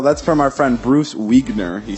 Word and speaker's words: Wiegner: That's from our friend Bruce Wiegner. He said his last name is pronounced like Wiener, but with a G.